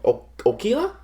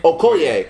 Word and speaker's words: Okoye: Okila? Okoye? Okoye.